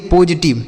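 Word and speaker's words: positive: इसे पॉजिटिव नहीं, पॉजिटिव। ठीक है, यहाँ पर यस का उच्चारण ज होगा। इसे पॉजिटिव पढ़ेंगे।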